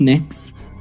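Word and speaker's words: Mx: Cameron tell me what you're you're proposing it's pronounced mix um mix is how would you like me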